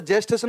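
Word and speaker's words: gestation: सर ने बताया होगा, गेस्टेशन बोलते हैं इसको। वैसे जेस्टेशन बोलते हैं पर अपन बोलते हैं प्रोनाउंसिएशन में क्या, गेस्टेशन, यानी कि टाइम पीरियड।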